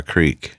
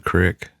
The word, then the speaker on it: creek: Do you call it a crick or a creek? Creek. We called it a creek. Yeah. See, I grew up calling it a crick. Well, I won't hold that against you. I appreciate that. It is spelled with 2 E's.